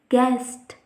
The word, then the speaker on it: guest: If we see the condition, U is silent when it comes after G and before vowel in a word. If we see the examples, guide, guest, guard, guess, etc.